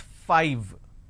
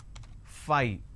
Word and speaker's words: five: phonetics or easily understandable it's five correct five but lot of us pronounce that as fight instead of saying 5 lot of us mispronounce this as Phi this mispronunciation can lead